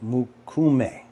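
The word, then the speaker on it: mokume: or titanium Muk it's it's mukum is how you pronounce it mukum it's a traditional Japanese metal working technique it's like it's like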